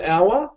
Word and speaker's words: hour: hour an hour because H is silent again m is Now Pronounce so we can actually say 95 miles an hour or 95 miles per